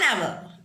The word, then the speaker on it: hour: first letter is silent, for example H is silent in this word, and then what? Next letter is what? Vowel is there. So that's why we are using an hour.